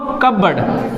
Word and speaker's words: cupboard: तो लकड़ी वाले अलमारी के लिए बोलते हैं कबर्ड। देखिए स्पेलिंग हो जाएगा CUPBOARD। क्या पढ़ेंगे इसको? कबर्ड। यहाँ से पढ़ेंगे कप, यहाँ से पढ़ेंगे बर्ड।